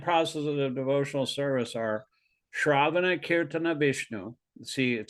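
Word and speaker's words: śravaṇa: the little slash above the S that's also pronounced shravana the two processes of shravana and kirtana are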